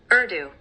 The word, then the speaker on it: Urdu: Urdu. Urdu. Okay, that's how I thought, but I didn't know if like how it's written is how it's pronounced.